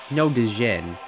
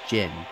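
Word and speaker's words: Djinn: So also, I've made a couple like mispronunciations, like Dijin. I call it Dijin, but it's pronounced Jin.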